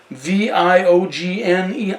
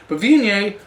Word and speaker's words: Viognier: Viognier. I just phonetically could not get it right. But Viognier kind of took a foothold, I guess, in the northern Rhone Valley.